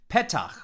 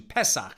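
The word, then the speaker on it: פתח: the word for opening pettach or in ashkenaz pronunciation pesach so we say is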